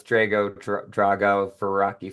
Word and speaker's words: Drago: want to make sure I have your the pronunciation of your name correct it's Drago Drago yeah okay I'm you may not get that